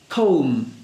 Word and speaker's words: comb: Okay, lamb is one, and the first one is comb.